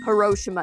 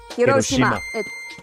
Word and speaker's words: Hiroshima: I hate when people say Hiroshima it's Hiroshima yeah it's Hiroshima like I hate when